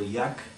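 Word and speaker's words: Jech: but you'll you'll hear names like quarterback kyle yeck is how it's pronounced it's actually j e c h it's yak running back nate gallory and wide receiver corey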